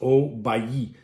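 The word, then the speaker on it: Haut-Bailly: we have sh chatau oay here it's pronounced oay and they are an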